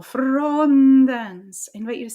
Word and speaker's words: frondens: And it means that we are moving energy, vocal energy, through the consonant. That's leading into the next event, the next thing. In this case, the next syllable, frondens.